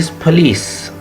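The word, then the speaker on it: police: soup please ट इ पुलीस पुलिस lease पे स्ट्रेस शुरू होगा पी ओ स्टेस्ट नहीं है अनस्ट्रेस्ड है तो आप कहेंगे लीस पली पोलीस पुलीस पुलीस पली ठीक है जी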